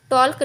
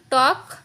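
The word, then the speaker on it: talk: अब नीचे आते हैं, अब हम लिखते के से पहले आया एल हमारा साइलेंट होता है, जैसे कि टी ए एल के, इसको हम टॉल्क नहीं टॉक, वॉक, चौक, योक, फॉक।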